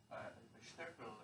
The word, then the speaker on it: Steckel: This was done by two researchers, Dr. Mike Steckel is how you would pronounce it in German, and Dr.